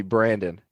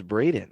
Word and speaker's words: Braden: Kept calling me Brandon. And Rob would look at him and be like, "Yo, his name is Braden.